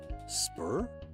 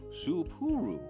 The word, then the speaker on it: Soooo: Spur? No, 3 syllables. Soooo.